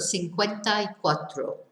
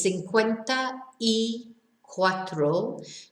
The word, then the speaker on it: cincuenta y cuatro: cuatro, so you've got cincuenta y cuatro. So remember, it's cincuenta y cuatro, but when we say it quickly and it all sort of mashes together, we end up with this I sound.